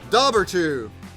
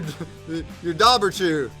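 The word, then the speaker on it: Dobhar-chú: A big emphasis on first syllable, huh? Dobberchew. It's a Dobberchew.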